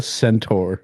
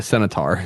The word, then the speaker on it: centaur: why do you pronounce what are you trying to say the half horse man what did you say the Centaur Centaur do you say he said a cenotar senator at Red landed